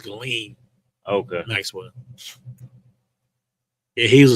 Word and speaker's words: Ghislaine: I think the S is silent. I think it's Ghislaine.